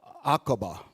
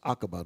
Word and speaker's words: Aqaba: Aqaba. That's how that's pronounced. Aqaba, the Gulf of Aqaba.